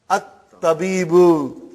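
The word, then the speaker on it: الطبيب: If it comes in the beginning of the sentence, you pronounce it. And then if something comes in front of it, you don't pronounce.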